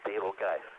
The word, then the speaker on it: Betelgeuse: this winner's circle is the supergiant star Betelgeuse or more accurately pronounced table guys I don't want to